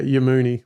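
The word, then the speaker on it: Yammouni: So Yamuni is Y-A. Yeah, Yamuni. Y-A-M-M. Yep. M-M-O-U-N-I.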